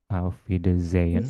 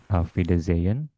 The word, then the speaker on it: Auf Wiedersehen: " Auf Wiedersehen", 's' dibaca 'z'. Auf Wieder-zen. Huruf 'h' di tengahnya tidak diucapkan. Sehen.